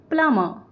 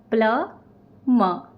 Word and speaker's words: plumber: There are 2 syllables in word plumber. Plumber.